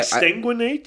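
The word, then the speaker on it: exsanguinate: They exanguinate you. Is that what it's called? Yeah. That's disgusting. That's an appropriately disgusting word for what that is. I don't know why. Exanguinate.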